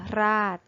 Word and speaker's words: ราช: ให้ คล้อง จอง กัน คำ ว่า ราด ถ้า สะกด โดย ใช้ ตาม มาตรา ตัว สะกด นะ คะ อยู่ ใน มาตรา แม่ กด สะกด อ่าน ออก เสียง เป็น รอ ออดอ ราด เพราะ ว่า ช ช้าง อยู่ ใน มาตรา แม่ กด และ คำ ว่า ชาติ ออก เสียง เป็น chor ชาติ ซึ่ง อยู่ ใน มาตรา แม่ กด เหมือน กัน จึง เป็น คำ ที่